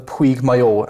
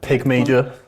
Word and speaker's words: Puig Mayor: So I've done the Puig Mayor out in Mallorca, Is that how you and pronounce it? Yeah, it's pretty good, I thought. Pig Major, that one.